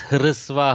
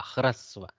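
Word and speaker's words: ह्रस्व: We pronounce it as hrisva, hrisva, hrisva. Actually, it is harasva, hakara repa. Okay, hakara repa, hrasva, hrasva akara.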